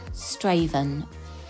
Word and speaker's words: Strathaven: from where i live it's called straven but it's spelt strathaven just to be confusing because i was under